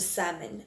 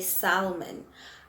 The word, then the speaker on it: salmon: to go back to salmon a lot of people like to say salmon i do not know why but it's supposed to be salmon okay so the l is silent and then we'll look